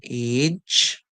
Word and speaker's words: age: When G comes before E, I or Y, we hear the song like J. So we hear J. So we hear a, j. The E here now is silent. So we hear age, and this is age by itself as a word in English, age.